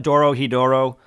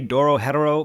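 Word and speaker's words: Dorohedoro: going to call it Doro hedoro that's what I first called it I only try to say Doro hetero because I'm trying to pronounce it correctly let's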